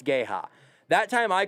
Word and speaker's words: Geha: time i go rudy it's not gay hot it's g-e-h-a and he says i'm pretty sure it's gay ha that time i called